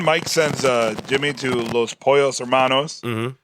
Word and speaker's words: Pollos: Now, then Mike sends Jimmy to Los Pollos Hermanos. I think I pronounced it Polos last time, but it's Pollos.